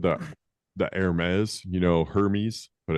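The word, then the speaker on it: Hermès: Um they said the the Hermes, you know, Hermes, but it's pronounced Hermes, the the popular clothing brand, the big H.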